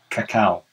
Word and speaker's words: cacao: until they start processing it they call it cacao and after it's been processed they call it